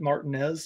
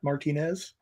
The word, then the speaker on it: Martinez: Martinez maybe and yes people from out of town we do pronounce it martinz and not Martinez I don't make the